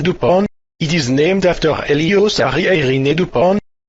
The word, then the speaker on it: DuPont: is something called the DuPont ratio analysis framework hey is this the same the point that makes the model airplane blue a it is pronounced dupon it is named after